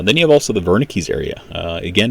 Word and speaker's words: Wernicke: you have also the wernicke's area again it is spelled with a w but you pronounce it as wernicke so again that's the